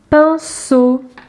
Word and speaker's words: pinceau: Pinceau. Attention ici, le son S, c'est la lettre C qui le fait. La fin du mot pinceau se trouve ici.